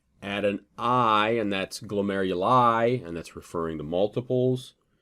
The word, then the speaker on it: glomeruli: kind of backtracking that glomeruli pronounced with an i that that denounce denotes multiples okay um eponyms i